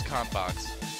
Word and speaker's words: Konbox: In English, it's Konbox. It's like contents box.